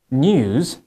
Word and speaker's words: news: So you can see that when you pronounce like 新闻 or news, that's the British way, but the American way of pronouncing that is?